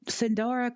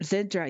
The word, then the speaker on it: Zindra: Uh the Zen Zindora continent type Zindora. Yeah. Yeah. Zindra. Yeah, that's it. Zindra.